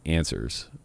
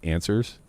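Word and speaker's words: NSUS: uh owned by uh apparently it's pronounced answers uh which I don't really understand but NSS NS us uh pronounced what so I don't know maybe they're Ming but somebody tweeted that it's actually pronounced answers I guess maybe that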